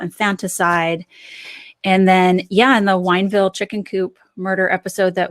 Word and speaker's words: Wineville: It's the Winneville chicken coop murders. Winneville? It's Wineville.